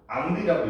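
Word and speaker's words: Henri: 어 이거 프랑스에서 뭐라고 읽어? How 앙리라고 읽어?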